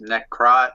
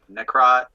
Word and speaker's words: Necrot: Yeah, I mean, you if you can read it, you can basically say it. It's just Necrot or Necrot.